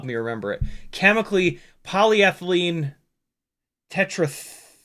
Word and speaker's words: phthalate: Chemically, polyethylene tetrathalate. I think it's pronounced phthalate. Tetrathalate.